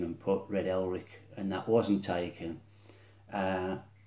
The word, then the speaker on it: Elric: It is Red Elric, and it is a variation on the Viking name Eric the Red.